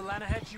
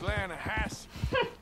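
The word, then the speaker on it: Lannahechee: right near here yeah but it's pronounced laying a hass why is everything in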